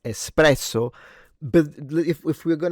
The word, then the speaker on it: espresso: If your barista hasn't corrected you already, your afternoon pickme up is called espresso, not espresso. Right. Okay. So, they are correct. There is no X and it is pronounced espresso.